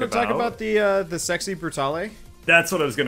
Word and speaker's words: Brutale: You almost certainly don't pronounce the E, but it's a weird word. Italians would say Brutale, but yeah.